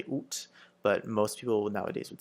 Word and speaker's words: août: So you sort of sound like an owl a little bit when you're saying it, so it's août. You can also pronounce it, you'll also hear the pronunciation août with the final T, août. But it's more of a formal thing.